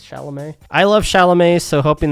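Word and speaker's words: Chalamet: love shalam so hoping the movie am I pronouncing that right by the way it's shalam I love shalam so hoping the movie will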